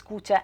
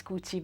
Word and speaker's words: Kucha: It is pronounced both as Kucha and as Kuchi, which is why I'm constantly referring to Kucha or Kuchi.